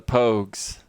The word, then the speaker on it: Pogues: Pogs, but with a long O sound. See? Alright, the Pogues.